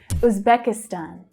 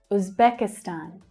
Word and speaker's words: Uzbekistan: Uzbekistan. Uzbekistan. It's the as in book vowel sound at the start.